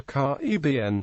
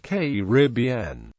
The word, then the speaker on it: Caribbean: The two most prevalent pronunciations of Caribbean are Caraïbes, with the primary accent on the third syllable, and Caraïbes, with the accent on the second.